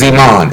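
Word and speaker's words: זְמַן: When it looks at times on this one here, the word is Zeman, and it's spelled Z-E-M-A-N, and it means a set time or season.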